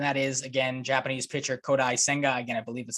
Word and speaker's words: Kodai Senga: multiple reports and that is again Japanese pitcher kodai senga again I believe is how you pronounce that uh 29 year old righty this